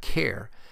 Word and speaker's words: char: pronounce it as type care since it is short for character but i've always pronounced it as the type char and the last primitive